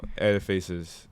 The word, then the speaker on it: Ediface: Edifaces NFT. Spell that. Okay. Spell that. EDIFACE. Not like edifice, like a building, but ediface.